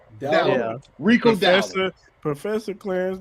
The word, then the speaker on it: Dowdle: Dowdell. It's Dowdle. Dowdle.